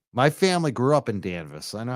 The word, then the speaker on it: Danvers: know most of them danvas don't say Danvers danvas it's not ha Hill it's havil havil what all right I gotta go yeah danvas exactly my family grew up in danvas I know how to